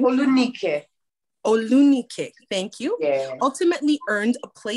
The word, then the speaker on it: Olunike: Olunike, I think that's how you pronounce her name. Olunike. Olunike, thank you.